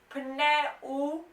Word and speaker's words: pneumatico: Lo pneu, pronounce the P, pneumatico.